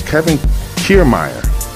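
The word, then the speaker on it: Kevin Kiermaier: super entertaining game um now what happened was kevin kiermeier that's how you say his name kevin kiermeier hit a shot now if anybody knows fenway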